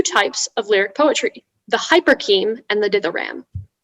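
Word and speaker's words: hyporcheme: patina cultivated two types of lyric poetry the hyperkeem and the did the ram hyperkeem wiper king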